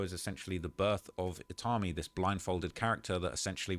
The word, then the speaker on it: Itami: And it says the character you see here today is named Itami, pronounced Itami, which means pain in Japanese.